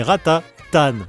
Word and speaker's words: Ratatan: D'ailleurs, c'est marrant parce qu'on dit Pat Pon mais Ratatan. Ce qui s'explique par le fait que Pat àapon vient de la contine. Il était une bergère tandis que Ratatan, le titre est prononcé tel quelque à la française, un à l'anglaise.